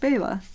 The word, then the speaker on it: Bella: Bella by the way my name is pronounced Bayla just how it's spelled thank you so much